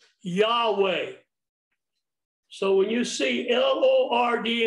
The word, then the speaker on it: Yahweh: it slowly together now when you see the word lord spelt with all capital letters that is the name of god we that pronounce yahweh so when you see